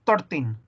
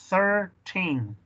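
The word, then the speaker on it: thirteen: 12, el 13 tiene un th, th, 13, no es 13, es 13, ok.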